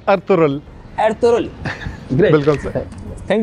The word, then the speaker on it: Ertuğrul: और सर आपसे एक सवाल है, सर आपने एर्तुगरुल देखा है? अब्दुल्ला माइंड नहीं कीजिएगा, मैं इसका प्रोनाउंसिएशन सही कर दूंगा। इट्स अर्तुगरुल।